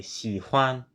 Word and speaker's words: 喜欢: I say 喜欢. 喜欢. That's what I 喜欢. I do not say 喜欢. I do not pronounce that as a neutral tone.